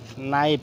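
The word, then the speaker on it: knife: সো দেখি knock K এন ও সি K knock নাইফ কে এন আই এফ ই নাইফ এখানে কে টা silent আছে তারপর হচ্ছে নিট কে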